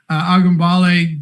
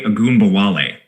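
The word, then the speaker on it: Ogunbowale: It's Dare Agumbawale. Agumbawale. Okay. So I even got Dare wrong. So Dare Agumbawale.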